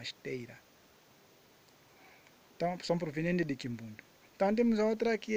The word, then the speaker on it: Kimbundu: pronúncia da palavra Kimbundu, vimos muitas vezes Kimbundo, que terminando com a letra O, mas que na verdade é Kimbundu.